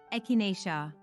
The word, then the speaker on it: echinacea: The next all-natural remedy on our list is echinacea, pronounced as echinacea.